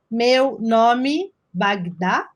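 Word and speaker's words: Meu Nome é Bagdá: and and the film has a instagram account nomi bagda is how you say in portuguese and i'm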